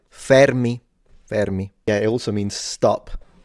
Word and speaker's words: Fermi: even the Fermi paradox, and I'm the only one who can pronounce that right, Fermi.